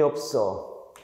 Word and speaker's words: 없어: 한번 해 볼게 돈이 없어 없애다 발음하면 가리비는 싸다 보이시죠 그치 자 긴 소리를 잊지 마 없어 긴 소리 잊지 마세요 긴 소리를 유지해야 돼 여러분 또 딴 것도 한번